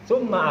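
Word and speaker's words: ثُمَّ: Summa, asalnya sumama. Jadi kalau dibacanya summa enggak ditasdidkan, salah.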